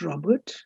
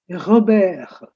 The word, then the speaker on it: Robert: It's not Robert. You write Robert, but in French this is pronounced as Robert.